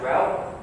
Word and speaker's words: RHEL: The short version is pronounced RHEL.